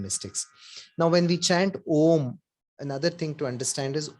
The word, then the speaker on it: om: now when we chant om another thing to understand is om has how many how many syllables does ohm have anybody three three how many say three everybody says three anybody differs no no